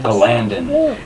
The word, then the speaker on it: Galandon: Galandon. It's a made-up word that I made up, and I get to say how to pronounce it.